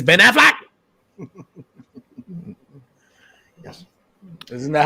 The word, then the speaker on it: Affleck: It's Ben Affleck. Yes. Isn't that how you pronounce it?